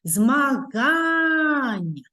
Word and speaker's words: змагань: позначається Ось таким знаком скільки складів у слові змагань три склади якій же склад наголошений вимовимо ще раз змагань то які чуються з більшою силою голосу І це другий склад А ми відкриваємо підручник